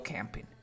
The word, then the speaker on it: camping: Go camping. La forma en que pronunciamos sería como que camping. Una E que se va transformando en A.